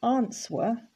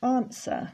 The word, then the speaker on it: answer: We don't say answer, it's answer.